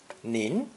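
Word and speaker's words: 您: polite form of you pronounced second tone nin ning is actually the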